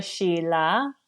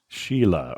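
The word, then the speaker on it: Scilla: but we're talking about s c i l a yeah you go to Sheila Sheila okay we lost the C somehow is the thing that confused me okay and that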